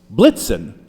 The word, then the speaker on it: Blitzen: Now it's a somewhat weak ending word, but blixen rhymes with vixen. Blitzen does not.